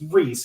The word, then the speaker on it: Charisa: Yeah, so it's pretty cool too, because it's obviously my name is spelled Charisa, but Reese is Reese, which makes no sense.